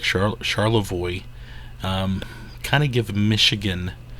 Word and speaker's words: Charlevoix: and we are in charoy Michigan I believe I'm pronouncing that right I looked it up I may have pronounced it wrong in another video but uh I believe it's charoy and man do we